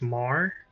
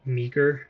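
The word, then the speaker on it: Meagher: So, let's bring I believe in the the video I watched uh the pronunciation of his name is Mah, not Meager.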